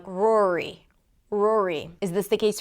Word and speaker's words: Rory: We start with an R sound. Then it's the or as in four. So R and then O. Keep the tongue down. And then another R. Round the lips. Bring the tongue up and finish it up with a high E. Pull the lips to the sides of it.